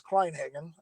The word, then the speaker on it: Kleinhagen: got into rc well the last name is kleinhagen uh and um let's see i got into